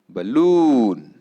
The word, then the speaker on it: balloon: Fifth word पहा, balloon. B first syllable, loon second syllable. Correct. Balloon. Balloon. The same word could be